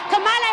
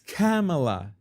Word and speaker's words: Kamala: make sure we have Camala Harris in office for eight years oh you said kamala's name wrong it's camela couldn't you know how your sister's name is pronounce you know that is